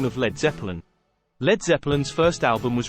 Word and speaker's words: Led Zeppelin: Grant Grant and Page thought the letter a in lead would be mispronounced by Americans so they changed it to LED they also changed the